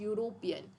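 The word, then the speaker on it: European: तो यहाँ पे क्या होगा, शी is dash यूरोपियन, यूरोपियन में यू य का प्रोनाउंसिएशन आता है। तो ये क्या है, ये हमारा व्यंजन है, इसलिए यहाँ पे क्या लगेगा, अ लगेगा।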